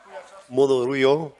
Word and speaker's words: Monerujo: So now for for the world, it's Monerujo, which is the Esperanto pronunciation.